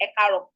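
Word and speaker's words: Ẹ kàárọ̀: Ekaro has 3 A's in the middle. Know it now. Eka, ro.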